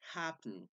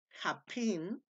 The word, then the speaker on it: happen: refiere la pronunciación es happen Entonces como la pronunciación es así solo se agrega de happen si si la pronunciación fueran japen japen Entonces ahí sí se